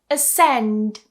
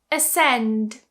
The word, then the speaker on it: ascend: You see, I don't pronounce the C here. Here are some other examples. Ascend. Ascend.